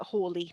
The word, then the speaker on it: Halley: predict the return of halley's comet call it hawley sorry we've been saying it wrong all these years and basically he completely